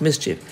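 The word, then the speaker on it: MSCHF: loving new york-based startup ms chf pronounced mischief are behind the campaign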